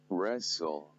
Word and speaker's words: wrestle: So quickly, let's move on to some of the examples where S, T, L, E are present and then they are silent.